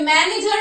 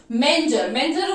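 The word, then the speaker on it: manger: डी, डॉग इन मैंजर, ये मैनेजर नहीं है। ठीक है, मैनेजर नहीं, स्पेलिंग चेक कर लेना, मैनेजर नहीं है, डॉग इन मैंजर, मैंजर बोलते हैं उसको चरनी को।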